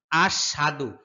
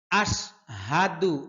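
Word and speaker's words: أشهد: এখানে সাধারণত যে ভুলটা হয় অনেকে বলে আশহাদু আশহা সাদু এই হা কে বলে সাটা সম্পূর্ণ ভুল হবে হচ্ছে আশহা আশ হাদু আশহা দুলা এখানে যেহেতু চিকুন চিহ্ন আছে তার মানে তিন আলিফ টেনে পড়তে হবে আশহাদু আল্লাহ আশহাদু আল্লাহ আশহাদু আল্লাহ ইলাহা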